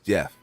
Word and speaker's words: Geoff: his actual his name you do pronounce it Jeff yeah it is Jeff Jeff singer yeah it's just he dispels the g-e-o yeah it sounds like it looks like V off but it is actually Jeff yeah I actually met